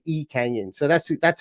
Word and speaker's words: Lee Kang-in: I've been reliably told that you drop the L at the very start if you were to say this in Korean and it would be e Canyon so that's that's how